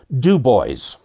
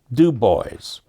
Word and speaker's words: Dubois: Okay, and there's a town up in Wyoming that, for all the world, is Dubois in French. But the residents there put the emphasis on the first syllable, Dubois. Dubois.